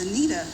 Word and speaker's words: Aneta: do a little correction my name is Anita Wayne I know it's it's spelled a little differently and so it's an e instead of an i what it is in Italy and I am serving